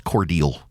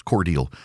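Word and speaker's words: Cordele: It's Cordel. It's Cordel. Down in South Georgia, they've got Unadilla. They have Vienna, but it's pronounced Vienna.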